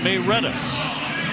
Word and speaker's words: Marietta: Big senior from Marietta, Georgia. Or as the folks in Marietta pronounce it, Mayor Reetta, do they?